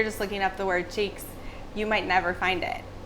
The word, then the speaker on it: Cheiks: this entire piece oh this event is called cheek like butt cheeks like butt team it's spelled differently butts about CH e IKS so it's just a little bit of a play in the word make it a little